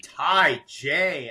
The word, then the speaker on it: Taija: by the very funny Ty J out of Austin. What's up? What's up, baby? What's up, man? When you pronounce his name, you got to remember the Tai and the J.